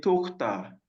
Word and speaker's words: Tochter: Ihre Tochter.